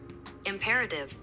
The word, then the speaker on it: Imperative: Also die Betonung, die liegt auf dem E und ich habe das immer wie, als wäre das Wort Rate da drin. Imperative so. Also ich habe es aufs A gelegt, aber imperative ist richtig.